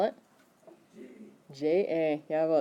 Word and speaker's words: ja: J-A. Yeah, well, it's pronounced like a Y, but it's actually a J.